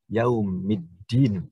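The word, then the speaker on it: يوم الدين: Sehingga bacaannya menjadi yaumiddin. Tidak boleh kita dibaca yaumi al-adin, nggak boleh. Harus yaumiddin. Sehingga kalau kita gabung menjadi maliki yaumiddin.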